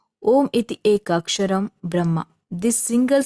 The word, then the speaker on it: om: Mantra it is said Omar Brahma this single syllable word om is itself the Divine principle it comprise three sound a u and M um constant and sustained